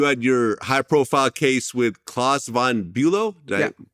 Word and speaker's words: Klaus von Bülow: Okay, then 1984, you had your high-profile case with Klaus von Bülow. Did I pronounce it right?